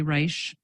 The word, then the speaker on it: Reich: Dr Libby to confirm did I pronounce that name correctly Reich I wish I were a doctor but I'm not thank you attorney Libby thank you did pronounce correctly thank you uh so